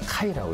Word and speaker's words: Ky: 여기서는 개를 갖다가 카이라고 이렇게 합니다. 왜냐하면 스펠링이 KY이기 때문에 네. 발음이 카이가 돼요. 그래서 그렇군요. 카이가 됩니다.